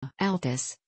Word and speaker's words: Altus: Altus, pronounced Altus, is a city in the county seat in Jackson County, Oklahoma, United States.